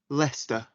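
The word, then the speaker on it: Leicester: avenue 14 spring avenue lester can you spell that please l e i c e s t e r what's your postcode l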